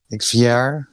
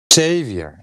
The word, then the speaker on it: Xavier: wity and xere XV xier I don't know um I my name is not actually made to be pronounced like that it's actually with an a like xavor Xavier all right so xav